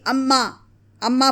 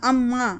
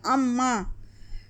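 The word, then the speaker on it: अम्माँ: अगर खाली अम्मा पढ़ेंगे तो गलत होगा, नून गुन्ना अम्मा, नाक से आवाज़ निकल रही है अम्मा।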